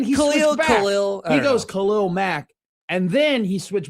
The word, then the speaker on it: Khalil: They did their thing, and he said it's Khalil Mack, not Khalil Mack.